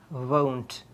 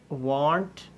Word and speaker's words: won't: pronunciation of this word it is not want it is won with a diff tongue there is a Glide like a wave here won't so when you want